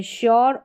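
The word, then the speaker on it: sure: जैसे इसमें श्योर और शुगर बाकी एस को स पढ़ते हैं। ये श्योर और शुगर हो गई। ऐसी स्पेलिंग्स यहां पर जो है एस का उच्चारण श होता है।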